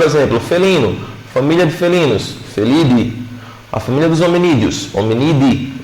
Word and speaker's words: Felidae: Mas não é latim, lembra que é latim? Então a gente não vai pronunciar o A. Então, por exemplo, felino, família de felinos, felidae.